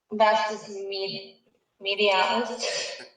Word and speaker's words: vastus medialis: Vastus medialis.